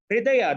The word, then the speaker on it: Hridaya: And I'll conclude by saying that Hridaya, the word Hridaya, if you look at HRidaya, it actually rhymes with HR idea.